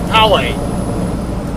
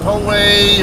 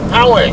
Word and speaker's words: Poway: The way we pronounce it locally is Poway, but I think a lot of the out-of-towners I know, out-of-staters I know, come on.